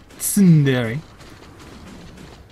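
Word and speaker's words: tsundere: I don't emphasize the T when I say Sundere. Sundere.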